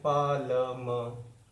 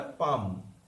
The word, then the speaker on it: palm: उसी तरह से PALM, उसको भी कुछ लोग करते हैं पालम। प्रोनाउंस जो होगा, ये तो है ही नहीं प्रोनाउंस। जब प्रोनाउंसिएशन होगा वही हमने यूज करना है। प्रोनाउंस क्या है हमारा, पाम, पा देन म।